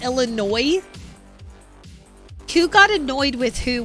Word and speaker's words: Illinois: The S is silent. Wait, is it really? It's not Illinois, it's Illinois.